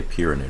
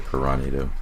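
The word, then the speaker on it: Piranhado: I always say Pyranado because it's kind of how it's spelled, but I think it's meant to be said Piranado.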